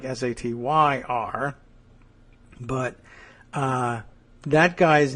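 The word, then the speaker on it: Sater: sat t er uh ironically I guess probably pronounced just like sat T yr but uh that guy's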